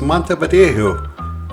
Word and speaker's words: Montevideo: from Canary icelands and the proper way to say this city is Mont vjo and the first stop